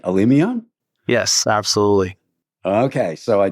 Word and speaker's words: Alimian: Alimian? Yes. Is that right? Alimian?